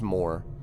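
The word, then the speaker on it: Morte: Il est mort. Yeah, in French it is more. But I don't know. I just always pronounced it mort.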